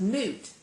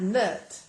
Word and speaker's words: Nut: My name is pronounced Noot, not Nut.